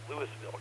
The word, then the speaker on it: Louisville: It's spelled differently than Louisville, Texas. It's spelled like Louisville, but it's pronounced Louisville, Colorado.